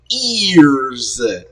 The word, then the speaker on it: Eearz: And a recent signee to the label named Eearz. It's spelled E-E-A-R-Z.